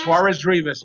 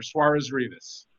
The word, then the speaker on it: Suarez Rivas: Suarez Rivas? Suarez Rivas, Mayor. Suarez Rivas. Okay, we make it into one word, right? Suarez Rivas. It's a compound name.